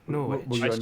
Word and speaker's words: Norwich: One that I stumbled over for many, many years was Norwich. Oh right, Norwich. Were you in Norwich?